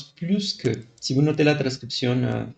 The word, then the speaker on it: plus que: Vous devez prononcer les S comme Z.